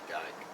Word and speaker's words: Dyche: I say Dyke.